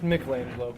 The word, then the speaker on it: Michelangelo: It's pronounced Michelangelo, and I was busy visualizing my next great creation, the sculpture of an adolescent monstrosity hero amphibian.